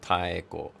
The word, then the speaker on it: Taeko: So Taeko, just remember to pronounce all of the vowel sounds separately, and then you're half the way there.